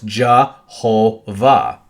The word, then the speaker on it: Jehovah: We look at Jove, which is what they call God, and they say, oh, that's Jove, because that's how we'd pronounce that in English. And it's like, no, it's Jehovah. Jehovah. Because they didn't always slap the vowels on everything. Okay? So it's Jehovah is Jove.